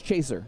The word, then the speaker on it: Cheshire: I'm surprised their team name is spelled Cheshire, because it's Chaser. That's how you pronounce it.